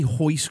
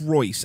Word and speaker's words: Royce: First off, don't call me Hoist Gracie. First, it's Royce. I hated Hoist Gracie because fucking pronounce the R, you Brazilian idiot.